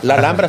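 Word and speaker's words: Alhambra: qué desayuné hoy la alambra alambra se escribe lh alambra es una palabra árabe Entonces entonces cuando él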